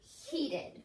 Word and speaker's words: heated: because very good so we think heat bed but we say heated very good alright our